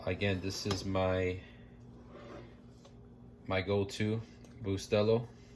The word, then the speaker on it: Bustelo: Put some milk in here, 2%, and again, this is my go-to Bustelo. I say it like that. It's actually Bustelo, but I know people say different.